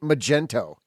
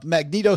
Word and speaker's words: Magneto: are reviewing this thing one guy pronounced it Magento completely transposing letters so you're good oh